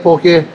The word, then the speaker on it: poke: I always say poke and people get mad at me, so I make sure I say poke. It's poke, not poke.